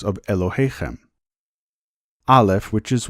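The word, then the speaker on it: אלהיכם: The term in Hebrew for your God is pronounced Elohechem.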